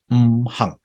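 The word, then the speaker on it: 行: 5 elements when you pronounce in Cantonese, in Chinese, is say hang.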